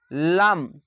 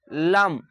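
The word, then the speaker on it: ل: পাশের এরকম লাম লাম জিহ্বাটা চাপটা হয়ে থাকবে না একদম উপরের দিকে লেগে লাম একদম খুব চাপটাও থাকবে না এবং খুব লাম্বাও থাকবে না লাম লাম লাম দাঁতের সঙ্গে কিন্তু লাগিয়ে হবে লাম এভাবে ভাবে নয় নাম্বার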